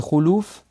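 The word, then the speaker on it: خلوف: Et le khuluf, on le prononce comme ça avec une dhamma sur le kha et sur le lam, c'est le changement.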